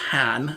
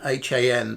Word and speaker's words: Hang: I think it's pronounced Han, H-A-N, but it's spelled H-A-N-G, so Han.